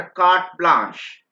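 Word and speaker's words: carte blanche: इसको कार्ट pronounce करते हैं बेटा, CART, कार्ट प्रोनाउंस करते हैं, एंड ब्लांश प्रोनाउंस करते हैं. ये मैं अगर आपको प्रोनाउंस करना दिक्कत आ रही हो तो BLAN, राइट, SH, ब्लांश, इस टाइप से प्रोनाउंस करते हैं, ताकि ये मैंने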